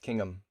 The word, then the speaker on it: Kingham: Pronounced Kingham. Appreciate the correction.